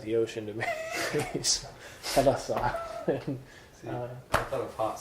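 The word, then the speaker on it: θάλασσα: Actually, thalassa. Pronounced with the accent.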